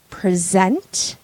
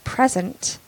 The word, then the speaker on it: present: verb or the noun so when it is a noun you stress the first syllable and when it is a verb you stress the second syllable so if I want to present to you mm-hmm then